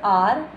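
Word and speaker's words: hour: In the word R, we use N. In the word R, we use N as H is silent.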